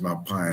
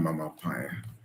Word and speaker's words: Mapaya: She said, "Please say her name correctly. Her name is Mapaya, not Mama Paya."